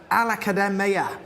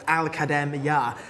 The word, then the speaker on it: Aladia: want to mention um alad who is horse number 10 whose name I will pronounce much better next time it's aladia who is uh horse